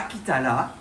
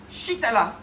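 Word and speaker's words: Chitala: petit peu mais non c'est pas Kitala c'est Shitala. Ben oui shit parce que c'est le nom sanscrit c'est un nom d'origine indienne. C'est la prononciation que l'on doit donner.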